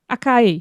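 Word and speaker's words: açaí: And acai, am I pronouncing that correctly? Because Acai.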